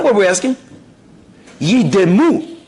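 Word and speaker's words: יִדְּמוּ: And therefore you must pronounce it yidemu, shvana, yidemu.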